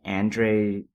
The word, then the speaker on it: Andrzej: Is it Andrzej? As far as I can tell, it's basically Andrew, and then the W has a V sound.